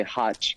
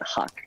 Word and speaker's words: Hach: Well, to be honest, my parents say Hotch, but then I guess in English you say Hach, right? It makes it easier to say Hach so they know how to spell it out.